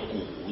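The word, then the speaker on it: 羖: 有谷羊，羊字上面的这个字啊念作谷字啊，跟那个股东的股啊同音。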